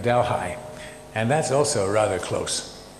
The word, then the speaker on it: Delhi: little spot which is known in canada as delhi because they don't pronounce delhi we we have dalhai and that's also rather